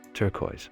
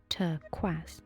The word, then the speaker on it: turquoise: yeah sapphires are boring turquoise your pronunciation is terrible Adam it should be pronounced turquaz so a tortoise is